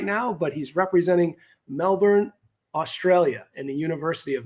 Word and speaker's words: Melbourne: you pronounce it uh Melbourne the r the r is silent so it's the University